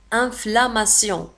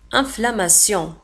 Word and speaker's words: inflammation: Inflammation. كذلك في آخر الكلمة تنتهي ب T I O N وتنطق sion. Inflammation.